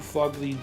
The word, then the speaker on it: Phogly: we call it too fugly dudes it's not it's fugly look at the way it's spelled and you'll get it